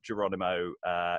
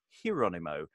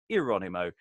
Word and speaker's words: Jeronimo: part of Geronimo except it's almost certainly not Geronimo it's probably more hero Nemo or maybe irani mo pronunciations will vary the relationship between this